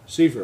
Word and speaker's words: Seaford: Is it Cypher, by the way? Butler, Fairman, Sackford? Seaford. Seaford, okay. Yeah. I've always said Seaford, I think you said Seaford.